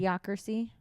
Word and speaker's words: Idiocracy: idiocracy OC what idiocracy idiocracy am I saying it right you're saying it right